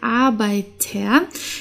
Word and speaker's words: Arbeiter: hier haben wir der Arbeiter hier spricht man spricht man das R wie ein a aus weil hier haben wir